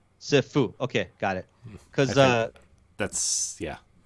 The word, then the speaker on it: Sifu: How does Stephanie pronounce it? Sifu. Sifu.